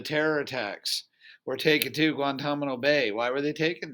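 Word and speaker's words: Guantánamo: that important take a look at that that's pronounced guantanamo the reason why i want you to know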